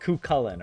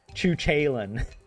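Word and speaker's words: Cú Chulainn: And in Irish, it's pronounced like it's like cucullen or something like this. Kullen, but the way the Americans pronounced it, it was like chuchen.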